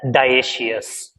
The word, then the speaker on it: dioecious: We pronounce it as dioecious.